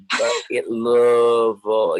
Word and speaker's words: Louisville: we're the bourbon capital, you say it like your throat is is like numb from bourbon. Like Louisville. You say in the back of your throat.